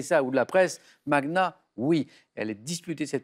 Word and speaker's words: magna: Mania. Oui, ça c'est oui. En français, on entend souvent mania, et en fait, on doit le prononcer Magna. comme pour Magnus. Donc c'est Magna, Magna. même si on l'entend moins, hein, mais voilà.